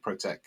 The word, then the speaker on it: ProteQ: word protect, but without we don't pronounce the C, because people see the logo with the P and the Q and the C, so we're just calling it ProteQ when we pronounce it.